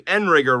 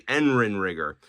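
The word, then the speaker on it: Endrinrigger: One other update, I figured out I was pronouncing Enrigger wrong. It's actually Endrin rigger.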